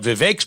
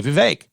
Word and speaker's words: Vivek: But Vivek's playing that card because he can, and he should.